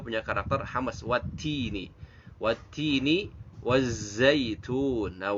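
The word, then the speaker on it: وَالزَّيْتُونِ: Wattini wazzaitun. Nah, wazzaitun itu ada zai. Kalau zai itu dibacanya dengan desis ya. Wazzaitun karena dia punya karakter yang namanya sofir. Wazzaitun.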